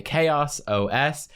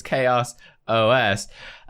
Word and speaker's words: ChaosOS: a long one by ChaosOS. I always get this wrong too. I pronounce it Chaos, but it's ChaosOS.